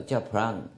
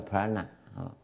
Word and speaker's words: prana: 不知道啊，应该叫 pran，没有 A，有了 A 就，但是印度话就常常这样翻译发音呐、叫 pran，你叫 prana 都好了，随便的。